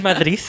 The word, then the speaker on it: Madrid: That's how they say it. In Madrid. In Madrid. I said it with the D at the end.